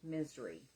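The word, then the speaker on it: Misri: It's spelled M-I-S-R-I, and it is pronounced misery.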